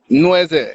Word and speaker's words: Nweze: Is it Nweze? Nweze? Nweze, yeah, you got it. You got it. Nweze.